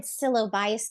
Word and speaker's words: psilocybin: So, it's funny because my next question is, how did psilocybin, I don't know how to pronounce that.